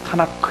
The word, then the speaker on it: 타나크: 케투빔의 K 해서 T, N, K를 그들의 자음인데 이거를 그냥 이렇게 거기에 모음을 넣어가지고 타나크 이렇게 발음하는 거예요.